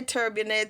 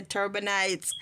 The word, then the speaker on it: turbinates: your wind the terminates turbinates or however you choose to pronounce it I say turbonet some people say turbon knes however now the turbinates